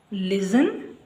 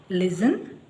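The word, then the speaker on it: listen: ವಿವರವಾಗಿ ತಿಳ್ಕೊಳ್ಳೋಣ ನೋಡಿ ಈಗ ಯಾವುದೇ ಪದವು ಎಸ್ ಟಿಇಎನ್ ಇಂದ ಕೊನೆಯಾಗುತ್ತಿದ್ದರೆ ಇಂಗ್ಲಿಷ್ ನ ಯಾವುದೇ ಪದ ಎಸ್ ಟಿಎನ್ ಇಂದ ಕೊನೆಯಾಗುತ್ತಿದ್ದರೆ ಆಗ ಟಿ ಸೈಲೆಂಟ್ ಆಗಿರುತ್ತದೆ. ಅದಲ್ಲಿ ಈ ಪದಗಳಲ್ಲಿ ಇಲ್ಲಿ ಲಿಸನ್ ಹಾಗೆ ಫ್ಯಾಸನ್ ಇಲ್ಲಿ ನ ಉಚ್ಚಾರ ಮಾಡ್ತಾ ಇಲ್ಲ ಲಿಸನ್ ಮತ್ತೆ ಫ್ಯಾಸನ್ ಇಲ್ಲಿಎಸ್ಟಿಎನ್ ಇಂದ ಈ ಪದಗಳು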